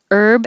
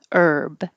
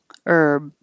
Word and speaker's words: herb: vehicle via via vehicle herb the thing you eat there's no h just start with the e herb and you don't have to say the herb and if it's a man's name then you do say the h herb herb